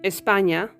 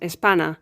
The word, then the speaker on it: España: The ñ is never pronounced like an N or an NI, ni in Spanish. For instance, we can't pronounce España as Espana or niño as niño.